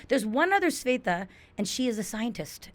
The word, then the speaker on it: Svetha: Oh, it's a Svetha Svetha. and not Shweta. Svetha. Okay. Svetha. Yeah, My dad wanted to be like, That's the Telugu pronunciation thingy of But it. no one will give me that V.